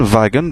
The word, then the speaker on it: Wagen: prononce ch, normal, Mann, Wagen, bien sûr on a vu que W se prononçait V, Wagen, etc.